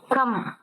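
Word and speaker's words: कम: ஆனா இதுல ஆனா சவுண்டு சொல்லக்கூடாது. கா இம். ஒரு வார்த்தை உச்சரிக்கிறோம் அப்படின்னா அதுல கடைசி எழுத்து என்ன மாதிரி இருக்குன்னு பார்க்கணும். கடைசி எழுத்துல அதுல ஆனா சவுண்டு சேர்ந்து இருக்கு அப்படின்னா அந்த ஆ சவுண்டு சொல்லக்கூடாது, இம்மு மட்டும்தான் உச்சரிக்கிறோம். இப்போ மானா எழுத்து எப்படி உருவாகுது? இம்மு பிளஸ் ஆனாதான் மானான்னு உருவாகுது. அதனால இந்த ஆனா உச்சரிப்பு மட்டும் உச்சரிக்க கூடாது, கம் அப்படின்னு சொல்லணும்.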